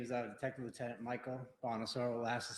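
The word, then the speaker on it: Bonasoro: My name is Detective Lieutenant Michael Bonosaur. Last is spelled B O N A S O R O.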